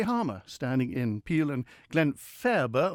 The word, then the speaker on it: Glenfaba: standing in peel and Glen faerber always a question mark about how it's pronounced i like to call it Graham fair but it's nicely in the middle he's 48 married with